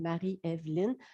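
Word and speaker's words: Marie-Évelyne: en trois mots s'il marie-evelyne ça se prononce tout collé marie evelyne dans notre famille et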